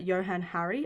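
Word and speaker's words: Johann Hari: alcohol sales and also according to the writer johann harry i'm so sorry if i'm pronouncing that wrong it's spelt j o h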